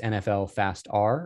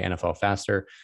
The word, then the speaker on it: nflfastR: nfl stuff that is nfl fast r or at least that's how i pronounce it i guess you could say nfl faster this is an amazing